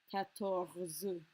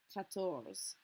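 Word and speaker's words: quatorze: to hit that R, and on 14 we kind of pretend it doesn't exist. That's because the French R and a French Z are practically impossible to pronounce next to each other. 14. It's much, much easier. We have to remember it's there when we spell it, of course. But it's much easier just to focus on pronouncing the ZE.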